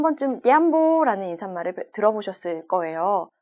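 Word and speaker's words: jambo: 만약에 스왈리어에 관심 있으신 분들이시라면 한 번쯤 냠보라는 인사말을 들어보셨을 거예요. 발음상 잠보라고 할 수도 있죠. 냠보 혹은 잠보인데요.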